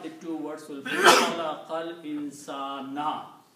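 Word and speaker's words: خلق الإنسان: The combination of the two words will be Khalaqal Insana. You will not speak Khalaqal Insanu. Khalaqal Insana.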